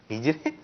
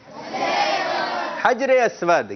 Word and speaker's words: حجر اسود: ہجرے. آپ یاد تو کر کے آگے, لیکن تلفظ کی درست ادائیگی نہیں ہو رہی. دوبارہ کہیے. ہجرے. ہجرے. ہجرے نہیں ہے, درست تلفظ کیا ہے بھائی؟ حجر اسود.